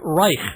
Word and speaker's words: Reich: But Reich, well, you can pronounce it anyway, but I just say Reich. Okay. Like bike.